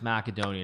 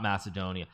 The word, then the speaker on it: Macedonia: you're actually wrong it's macedonia if you're in in the proper language of the country it's macedonia not macedonia i always thought it